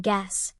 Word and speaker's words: guess: Usually before G, U is silent as in guess.